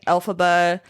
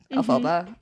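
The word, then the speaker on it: Elphaba: Um, so he named Alphaba after Frank Elbomb, as in like phonetically saying F Elbomb. Alphaba. Yeah. Um, so that's how he came up with that name.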